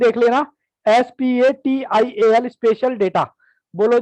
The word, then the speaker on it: spatial: Spelling देख लेना, SPATIAL, स्पेशल data.